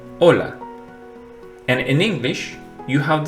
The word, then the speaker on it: hola: In Spanish, it's silent, as in hola.